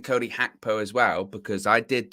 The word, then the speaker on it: Gakpo: And it's Cody Gakpo. It's a hard G.